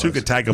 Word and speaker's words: Tua Tagovailoa: Tua Tagovailoa.